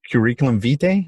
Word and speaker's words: curriculum vitae: guys but also is CV which stands for curriculum vitae that's how you pronounce it and there's obviously we spoke with dr.